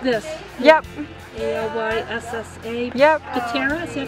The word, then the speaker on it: Pittera: Pittera, is that how you say it?